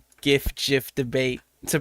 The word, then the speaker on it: GIF: GIF is said with a J sound like the creator intended.